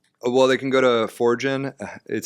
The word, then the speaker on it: Forgn: Forgin. It's like forge and generative. Not merge. like the number 4, but like forging your path.